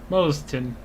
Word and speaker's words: Moston: How'd you pronounce that? Is that like Mustin? Moston.